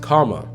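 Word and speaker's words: kamma: The word karma is a Sanskrit word meaning action, and in Pali is pronounced kama.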